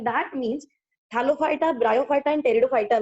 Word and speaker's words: Pteridophyta: Third division called as Pteridophyta. Here P is silent, so we call it as Pteridophyta.